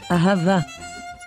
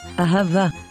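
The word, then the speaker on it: אהבה: within a word but when the letter hey is found at the end of a word we pronounce it as ah so this word is pronounced as ahava ahava ahava is the hebrew word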